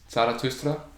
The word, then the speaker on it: Zarathustra: So the SP at the beginning of a word means the S sounds like SH, Sprach, and then Za, the Z has that S, Zarathustra.